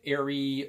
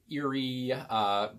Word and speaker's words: Aerie: So you can actually say it Aerie or Aerie, and I thought it was just a made-up word, but it's not a made-up word.